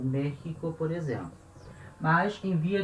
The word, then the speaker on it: México: falado em alguma aula, palavra México se escreve com X, letra X, mas tem som de J.